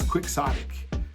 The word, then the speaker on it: quixotic: soic all right so so it's spelled I want to make sure you get it right so quick Sonic is spelled q u i x o TI I that's qix o TI I quick Sonic all right it